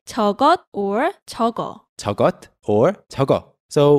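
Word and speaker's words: 저것: i say that thing it you can say togo or togo or togo so we talked about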